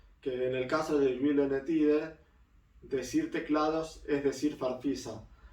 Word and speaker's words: Gyllene Tider: Y con esto llegamos a la formación definitiva de Silene Tider. Yo digo, Silene Tider es la forma más argentinizada de decirlo, y Julian Tider la sueca.